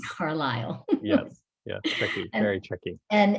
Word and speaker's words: Carlisle: that even though it's spelled like carlisle it's pronounced carlisle yes yeah very tricky and it is small